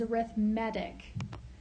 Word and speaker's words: arithmetic: So, an arithmetic, now we spell it like arithmetic, but the way we say it in this context is arithmetic sequence.